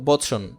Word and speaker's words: বচন: উদাহরণ হিসেবে দেখো বচন, বোচন, হ্যাঁ এইখানে কিন্তু ও আছে, বোচন।